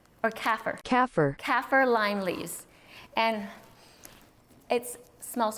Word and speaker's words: Kaffir: It's Kaffir, and it's pronounced according to Adam. He looked it up. Kaffir. Kaffir lime leaves, and it smells so great.